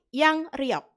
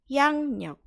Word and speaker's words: 양력: Yang nyok. Kenapa begitu? Karena ketika ada bacim ing bertemu dengan awalan real, maka realnya diganti nien. Maksudnya diganti itu adalah dibaca ya, dibaca nien. Tapi tulisannya tetap pakai real. Bacanya jadinya adalah yang nyok, bukan yang riok.